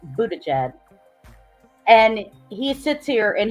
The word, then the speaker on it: Buttigieg: That's how his name is pronounced, Buttigieg.